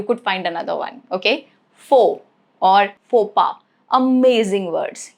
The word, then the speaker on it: faux: It is silent at the end of a word derived from French.